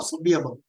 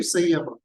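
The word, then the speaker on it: Saṃyama: The concept of samyama. Some people call it sanyama. So whether you pronounce ma or you pronounce right? Sanyama. Some people use sanyama, some people use samyama. Whatever way you pronounce it.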